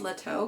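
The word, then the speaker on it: L'eto: cafe I think it's I think it's pronounced Leto because it's l apostrophe e-t-o so um I walked past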